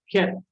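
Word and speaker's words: Chet: Its pronunciation is from the throat. Ket. Ket. It is as if I'm clearing out the throat.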